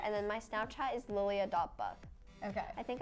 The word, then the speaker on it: Lilia: Instagram is just louia Li Li a record that username exactly I was like thank you still people say it wrong they're like my Lea like not quite um Lilia then I go follow